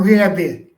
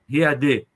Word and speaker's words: Riad: Riad. Riad. Riad, tem esse D no final. Com E no final. Se escreve como se pronuncia, tá?